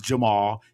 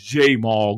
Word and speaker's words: Jamar: his name pronounced wrong his name is jar not Jamal is J Mar green look this JY buug